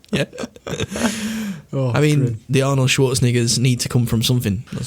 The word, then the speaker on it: Schwarzenegger: Did I say it wrong? You said it a bit wrong, yeah. Right, well, Arnold Schwarzenegger. There you go.